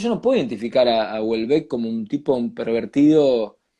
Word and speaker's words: Houellebecq: Porque, por ejemplo, Michel Houellebecq, no sé si se pronuncia, yo creo que se pronuncia Houellebecq, que es uno de los escritores que más me gustan de los últimos tiempos.